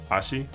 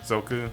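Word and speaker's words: 足: Ashi is how you say foot in Japanese. So that's how you would read that. Obviously, you can also read this as Zoku and in a jukugo.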